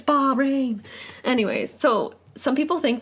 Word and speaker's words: Bahrain: Amber's been mispronouncing that all week. Bahrain, I've been saying. Which is not Not Bahrain. It's Bahrain.